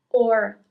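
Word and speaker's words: ho: It's H O in English. So aka O in Italian. So you don't pronounce the first H.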